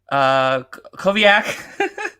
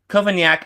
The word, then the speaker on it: Cavaignac: Koviak? Did I pronounce that right?